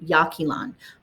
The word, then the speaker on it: Yaxchilan: Yaxchilan, like YA, like if you did it phonetically, Yaxchilan. YA, and then KEY, like a key, and then LAN, Yaxchilan.